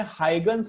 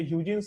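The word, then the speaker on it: Huygens: ये हाइगन्स vegans क्या, ये ह्यूजिन्स नहीं बोलते हैं इसको, हाइगन्स है प्रोनाउंसिएशन।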